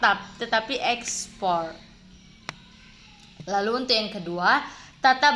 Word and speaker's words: ekspor: transmigrasi bukan ekspor tapi export nah eh bukan exports tab tetapi ekspor lalu untuk yang kedua tata bahasa atau kata